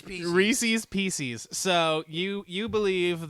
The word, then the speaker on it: Reese's: that says Reese's Pieces Reese's Pieces so you you believe that originally Reese's Reese it's not Reese's well his name's not Reese so an apostrophe s would be Reeses right which rhymes with pieces as it's spelled the